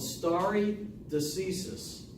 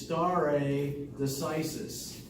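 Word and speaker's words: stare decisis: the English common law legal system is called starry diseases any any Latin scholars in here anybody who's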